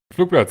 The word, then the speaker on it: Flugplatz: Flugplatz, indeed.